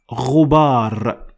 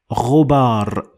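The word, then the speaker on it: غبار: Last, ghubar. Ghubar. And ghubar in this instance means dust, and it is pronounced in English as you can see.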